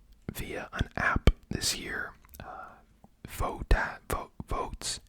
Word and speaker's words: Voatz: Votes, and it's spelled VOATZ.